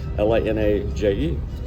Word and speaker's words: Linaje: And this is, how do you say that? Linaje? Yes. Linaje? No. I guessed right. Linaje.